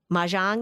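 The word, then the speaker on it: mahjong: I was actually just talking to my cousin recently and she started playing ma jang.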